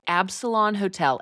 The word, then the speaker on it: Absalon: But so we stayed at a hotel that I am pronouncing as Absalon Hotel, A-B Salon, S-A-L-O-N, Absalon Hotel.